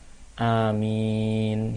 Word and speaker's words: Amin: dan mim nyanyi Tidak ditasydid sehingga kita baca Amin pilihan Mina itu yang panjang hanya itu dua